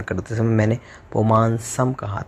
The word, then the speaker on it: पुमांस: उच्चारण करते समय मैंने पुमांसम कहा था, तो जब हम विच्छेद करेंगे तो पुमांसम होगा। उच्चारण करते समय आपको पुमांस बोलना है, क्योंकि इससे छंद की जो गति है वो ठीक बैठेगी। और इसके बाद में मादित्य